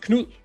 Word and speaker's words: Knut: It's just Knut. It's like a soft D in the end, and it's like it's weird Danish word, but you try to pronounce that Knut.